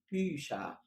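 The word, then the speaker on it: Bücher: طيب كنا بنقول بوخ، بوخ، بيشا، بيشا، بوخ، بيشا. يبقى أنا بدل ما كنت بنطق خ بقيت بنطق شين.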